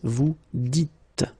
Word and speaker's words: vous dites: So it's not vous disiez, okay, as many would think, but then it's vous dites, okay, final S not pronounced, vous dites.